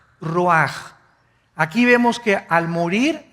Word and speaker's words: ruach: El ruaj que se escribe r u a c h ruach en el hebreo y se pronuncia igual roj.